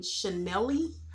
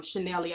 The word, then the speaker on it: Chanellee: Chillinwitwalt, Genuinely Nisha, and Chanelly. I think I was saying her name wrong yesterday. I thought I was calling her Chanel, but it's Chanelly, I guess, because Local Libra was calling her Chanelly.